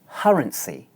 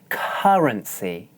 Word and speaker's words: currency: best technique currency currency the final consonant is listen as I demonstrate as you can see my mouth is slightly open and I'm smiling a little bit the tip of my tongue is pressed against the back of my upper teeth watch again to get